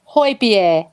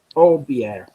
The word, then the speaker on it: Højbjerg: Here comes Højbjerg's Harry.